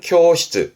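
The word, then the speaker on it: 教室: 발음은 쿄시츠, 쿄시츠.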